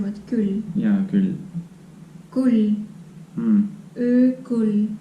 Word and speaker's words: kull: So I have to say this oo more strong Hmm. so that it doesn't, Yeah, doesn't sound like Ü.